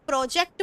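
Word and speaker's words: project: तो मैंने जब प्रोजेक्ट बोला तो मैंने टी को साउंड नहीं किया. प्रोजेक्ट. कोशिश करें एक बार में पिक करें जो मैं बोलती हूँ और उसको कॉपी करें, बार बार उसकी प्रैक्टिस करें और आपका प्रोनाउंसिएशन पूरी तरह से करेक्ट हो जाएगा. प्रोजेक्ट. प्रोजेक्ट. मैंने इसमें टी को नहीं रखा, टी को मैंने स्लैंट रखा है. स्लैंट टी का मतलब होता है अनक्लियर टी, बहुत जरा सा टच,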